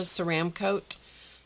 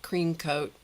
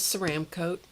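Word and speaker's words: Ceramcoat: This is pronounced ceram coat, not cream coat. It's easy to call it cream coat because your mind will flip the letters around. And uh but it is ceram coat.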